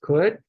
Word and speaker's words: could: Could, connecting it to should and would, teaching that O-U-L-D spelling pattern, highlighting that silent L that many children leave out.